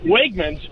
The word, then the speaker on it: Wegmans: you say it is it wegmans or yeah wegmans yes yeah yeah oh it's it's like it's